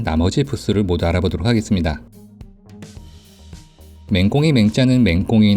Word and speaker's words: 黽: 부수를 모두 알아보도록 하겠습니다 맹공에 맹자는 맹꽁이 나 힘쓰다 노력하다 라는 뜻을 가진 그 자입니다 이 글자는 맹꽁이 를 뜻할 때는 맹 으로 힘쓰다 나 노력하다 라고 할 때는 민우 로 발음합니다 맹꽁이가 열심히 울어대는 모습에서